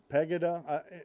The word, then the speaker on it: Pegida: PEGI da pagai de pegida and my how to pronounce that's pronounced pegida but it's a german movement now the lamestream media